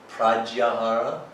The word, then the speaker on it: Pratyahara: Talking about the fourth limb of yoga is pronounced Pratyahara, although it's sometimes written Pratyahara with a TH.